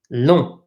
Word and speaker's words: long: like an English LNG loon this G is silent right we do not pronounce it because it is a